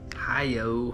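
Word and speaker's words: HIUO: A beautiful 3-inch spark shad in that color, that Hi-Yo. That's what I'm gonna start calling it from now on. It's spelled H-I-U-O, so kind of a hard one to pronounce, but that's what it looks like.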